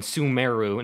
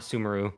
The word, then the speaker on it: Sumeru: pronounce the word so it's not in a zoom like Inazuma it's Inazuma and sumeru not sumeru Lisa personally witnessed oh my